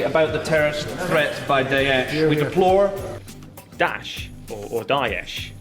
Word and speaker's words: Daesh: And the country about the terrorist threat by Daesh. We deplore... Daesh, or Daesh. It's Daesh.